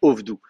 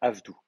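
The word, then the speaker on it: עבדו: Parce qu'effectivement, si vous mettez un kametz en syllabe fermée non accentuée, on va dire que c'est un kametz ratouf, on va dire O. Ça ferait ovdou. Non, là c'est avad, avdou.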